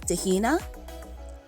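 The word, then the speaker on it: Dé hAoine: decading decating thursday is darden dardin friday is tahina tahina saturday is de sahan de sahern and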